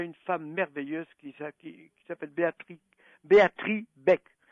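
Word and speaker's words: Béatrix Beck: femme merveilleuse qui s'appelle Béatrice Beck. Ça s'écrit avec un X et le X ne se prononce pas.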